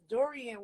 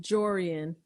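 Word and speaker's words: Jurian: So when they was like hunting for the walls and stuff, now Dorian was there too. Jorian. How you say it? Jorian. Okay, I said Dorian.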